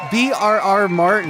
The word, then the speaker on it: VRR Martin: my awesome guest the Creator behind pop density brr Martin is that what I should call you Martin